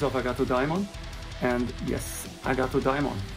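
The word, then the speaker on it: Agathodaimon: And yes, Agato Daimon. It's not Agatha Demon or anything like that. It's a name from ancient Greece, Greek mythology.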